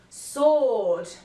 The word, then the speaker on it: sword: and we also have a short little list of words in which the W is silent let's have a look who who's whoever hole you answer Anat and sois answer sword alright guys we have